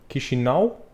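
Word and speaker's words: Chișinău: have as well so but the original pronunciation will be key chanel key she now key Chanel key if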